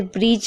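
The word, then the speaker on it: bridge: जैसे ब्रिज में आप देख रहे हैं देखिए ध्यान से डी है और उसके बाद जी है तो डी साइलेंट है।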